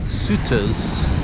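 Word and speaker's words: Sauteurs: in their beach this is the beach at suitors that's how you pronounce it I'm the very north of Grenada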